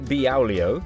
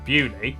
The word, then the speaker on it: Beaulieu: Starting in Biaulio, Bewley, head over to Rampisham, Ransom, then down to Mousehole.